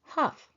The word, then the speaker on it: Hough: taker wrote his last name down as h-u-f-f uff I believe this lets us know how we should pronounce his last name and as a matter